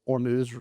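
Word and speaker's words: Hormuz: the straight of Ormuse, very fashionable to say out loud as Ormuz rhymes with news, is down 92% which is obviously an enormous drop.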